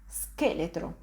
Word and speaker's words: scheletro: You can see again, I just pronounce s followed by ke. Ske. An example of this sound is in the word scheletro, which means skeleton.